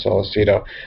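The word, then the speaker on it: Sollecito: I think his last name is pronounced Salceto.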